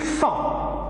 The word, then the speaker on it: sont: Ils sont, S-O-N-T. Son corps est fort. Alors, sont, O-N-T, sont, O-N. Donc nous avons la même prononciation de son, mais ici il y a T, ici il n'y a rien.